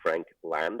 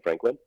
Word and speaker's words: Frankland: on there is D Frank land I have to over pronounce the land because uh people come back and say they can't find me because they type in Franklin um we we uh